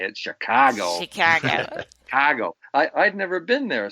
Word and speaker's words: Chicago: That's how they say it, Chicago.